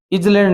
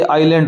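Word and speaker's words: island: जैसे 15 नंबर प्रश्न है कैचल इज इजैंड नहीं होता। ये आइलैंड होता है।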